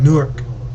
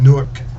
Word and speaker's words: Newark: First off, I hail from a city in New Jersey called Newark, or Newark as locals say down there, up there.